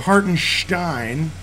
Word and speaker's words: Hartenstein: watch some guy named hartenstein dude first of all if you're a Knicks fan you know his name's pronounced Haren Stein second of all if